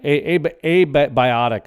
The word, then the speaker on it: abiotic: oil it's called a a by a biotic I believe is how it's a abiotic is how it's pronounced but it it has